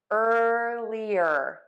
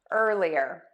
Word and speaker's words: earlier: like your ear and we're not going to say ear we are just going to say ER earlier earlier so to say that